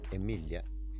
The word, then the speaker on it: Emilia: it Emily in English it's pronounced Emilia in kind of Swedish with that little Lilia